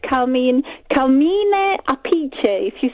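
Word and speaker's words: Appice: In Vanilla Fudge, it's Carmine Apice. If you say that in kind of Italian. Carmine Apice.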